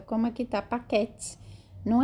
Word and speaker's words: paquet: Lembrando que a última consoante não é pronunciada, como aqui tá paquete. Não é paquete, é paquet. A última consoante não é pronunciada em francês.